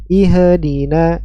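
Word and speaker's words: اهْدِنَا: suaranya mengalir ih dinina ih jangan dipantulkan ihdina ihdina ya bukan ihdi masuk ke huruf Dal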